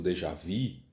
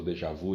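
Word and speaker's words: déjà vu: uma sensação talvez não dê já vi em francês ou Dejavú em inglês a mesma palavra mas são duas pronúncias diferentes Então você tem uma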